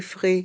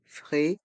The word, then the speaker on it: frais: Des frais supplémentaires. Des frais supplémentaires. Frais. Le S du mot frais est muet.